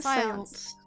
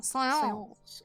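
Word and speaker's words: séance: It's like a seance. Oh, seance. It's like a French word, seance.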